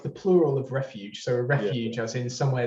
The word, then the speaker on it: Refuges: to talk about cool i wanted to ask you how to pronounce it i know we've already spoken refugees but i might be wrong yeah yeah i mean i'd i think i made the word up actually but it's it's refuges so it's kind of